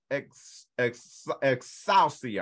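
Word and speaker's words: ἐξουσία: Authority in the Greek means the exercise of power, or exousia, I'll spell it, E-X-O-U-C-I-A.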